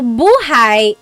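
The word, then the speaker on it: buhay: So buhai is life. If you say buhai, the emphasis is on the second syllable.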